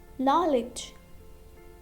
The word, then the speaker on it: knowledge: Knowledge, knowledge. Knee, knee. Not, not. Knock, knock. Okay, now if we talk about this word knowledge, in this word letter D is also silent.